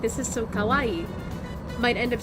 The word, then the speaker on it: kawaii: Like, a common mistake, like, English speakers try to speak Japanese will make is accidentally pronouncing kawaii as kawaii, because depending on your accent and where you are in America, you might pronounce your A's as O's, or your O's as A's.